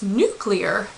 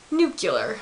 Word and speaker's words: nuclear: That'd be nuclear. But that's not a word. It's nuclear, not nuclear.